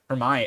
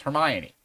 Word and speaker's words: Hermione: someone else realized that the way you were pronouncing Hermion like we've all just come to to say it's Hermione um I was like